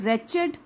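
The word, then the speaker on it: wretched: I can't pay यू a Penney for द रेचेड beast, W silent है, रेचेड beast you sold me.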